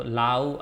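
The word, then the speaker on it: লাউ: Gourd is lau. Okay. So lau are of different shapes and sizes in Bangladesh. Onek akar akritir lau paoya jay. Lau, loi akar, rosho u, lau, lau. Okay, you don't need to memorize the name.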